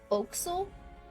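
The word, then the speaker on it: forecastle: that word that's spelled for Castle is actually pronounced what oh okay yeah fil yes fil interesting okay it looks like foxo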